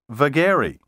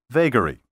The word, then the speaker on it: vagary: vagabond, a wanderer, and vagari, which is now often pronounced vagary.